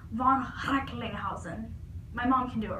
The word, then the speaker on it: von Recklinghausen: His name is actually pronounced with like this kind of like throat sound. I think I can do it. It's like von Recklinghausen.